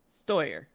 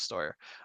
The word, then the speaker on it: Steuer: And tell me again how to pronounce his last name. Nathan Steuer. Steuer. Okay. I thought it was Steuer.